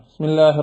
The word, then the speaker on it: بسم الله: ചെയ്യൽ ഖിറാഅത്തിന്റെ ഒരു ന്യൂനതയാണ് അപ്പൊ ബിസ്മില്ലാഹി റഹ്മാനി റഹീം ബിസ്മില്ലാഹി റഹ്മാനി റഹീം എന്ന് പറയുമ്പോൾ ബി എന്ന് നമ്മൾ പറയുന്നില്ല